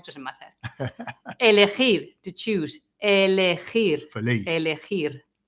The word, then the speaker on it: elegir: Elegir. For Lee. Elegir. And remember to pronounce the R at the end, okay?